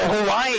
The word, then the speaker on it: Hawaii: And then the W's sound like V, so Hawaii is actually properly pronounced Hawaii.